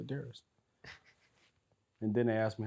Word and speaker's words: Demetrius: It's probably just me because I don't even pronounce really the U in my name. You call yourself Darius? Darius. That's ridiculous. Like if somebody asks me what's my name, I say Darius.